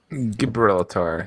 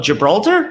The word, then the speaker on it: Gibraltar: something similar here that's kind of my ideal gibberella tar never heard about that island oh gibraltar you haven't heard of it too beautiful oh